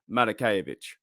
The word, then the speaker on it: Matakevich: By the way, we signed Tyler Matakevich. That's how you pronounce his name.